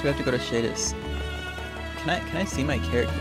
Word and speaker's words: Shadis: Oh, Commander Sadie's. Okay. Shadis. Oh my god. I didn't realize that's how you spell it.